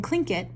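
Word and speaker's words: Tlingit: was a klinket indian pronouncing klinket proudly with the clicking of his tongue as if saying clink it he was built like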